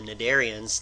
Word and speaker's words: cnidarians: Concept 33.2 is about the cnidarians. The C is silent.